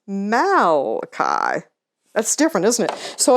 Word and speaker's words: Malachi: one right here and they'll think it was some italian guy who wrote it malachi and be laughed out by the other kids but if you spell it right out and say no it's malachi that's different isn't it